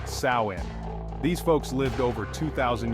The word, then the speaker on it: Samhain: It started with the ancient Celts and their festival of Samhain, pronounced Samhain.